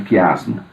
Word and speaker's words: quiasmo: E sofreu alteração no português por causa da pronúncia do italiano, que pronuncia o CH como K. Um exemplo de quiasmo.